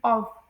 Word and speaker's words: of: इसी के साथ जैसे जो वर्ड है ना ओ एफ जिसे लोग ऑफ प्रोनाउंस करते हैं तो उसे प्रोनाउंस किया जाता है ऑफ। ऑफ इसे इसमें एफ की साउंड नहीं निकलती। इसमें वी की साउंड निकलती है।